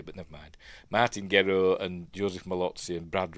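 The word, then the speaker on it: Gero: Uh and the fact that we've got Martin Grow, who I pronounced Gerro in video the other day, but never mind. Martin Grow and Joseph Malots and Brad right there.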